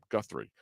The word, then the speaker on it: Guthrie: Guthrie.